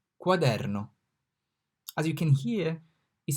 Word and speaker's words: quaderno: So Q is pronounced like Q in quarter, quaderno, quaderno, quarter.